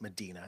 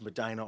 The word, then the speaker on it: Medina: We call it, we pronounce it Madina because we're Midwestern, but Medina. It's Madina, Ohio.